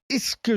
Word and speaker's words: Ischgl: Oui, alors ça s'appelle Ischgl, je crois que ça se prononce comme ça s'écrit ISCHGL, beaucoup de consonnes, une seule voyelle.